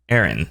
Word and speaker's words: Aran: And though his name is pronounced Arantes, the pronunciation of Samus's surname is confirmed to be Aran. Samus Aran.